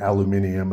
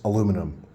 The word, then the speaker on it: aluminum: The English at some point, for whatever reason, got it mixed up and started calling it aluminium, and they never corrected their mistake. Although they will claim that we're saying it wrong and that it's actually aluminium.